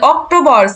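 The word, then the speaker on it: Oktober: same বানান same to same হুম এই যে অক্টোবর সে এর পরিবর্তে কি দিছে সে এর পরে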